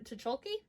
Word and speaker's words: Tucholke: boys stories selected by april genevieve tucholke apparently that's how you actually say her name i had no idea